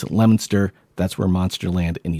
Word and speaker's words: Leominster: and say that's not how it's pronounced it's pronounced lemonster so I know I I went back and listened to part of that and I just kept on saying Leominster is the town and the Leominster State for